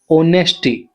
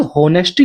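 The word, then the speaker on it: honesty: उन्होंने बात की अबाउट ऑनेस्टी ईमानदारी के बारे में। दोस्तों ये होनेस्टी नहीं होता। एच इसमें साइलेंट होता है। ठीक है? यह ऑनेस्टी होता है।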